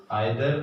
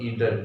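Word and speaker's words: either: For example देखिए, for each, आइदर और ईदर, इसे दोनों तरीके से प्रोनाउंस किया जा सकता है।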